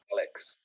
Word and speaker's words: AhhLix: No, but you actually would say it like that? That's the way you pronounce it? Just AhhLix.